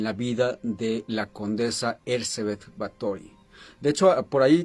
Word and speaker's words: Erzsébet: Bueno, e en el castellano es Erzebet, pero creo que en el en el idioma original que es el húngaro, porque ella era de Hungría, sería Hercebet con eh sí, Ercebet Batory, no sería bueno como